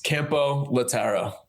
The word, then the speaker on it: Campolattaro: now, but can you tell us the proper pronunciation of your of your last name? Don't worry about it. But it's Kempo Lataro.